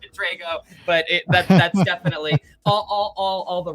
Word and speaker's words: Drago: I would have said Drago even though I pronounced it Drago.